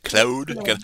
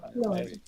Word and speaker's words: Claude: And they're a French company, it should be Claude. Claude? Claude. Gotta pronounce it the French way. Claude.